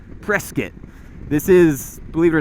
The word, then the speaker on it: Prescott: it but we are in prescott arizona right now or as the locals say prescott this is believe it